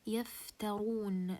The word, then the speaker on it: يفترون: Also when the ra has a dhamma, as you can see here in يفترون, the ra has a dhamma, so I'll make it مفخمة here. Okay, this is for case number 1.